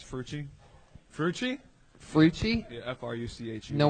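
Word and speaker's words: Fruche: you didn't say my name right last time. It's Frucci.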